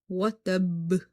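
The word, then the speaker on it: وَتَبَّ: Al-haq, tab, watab.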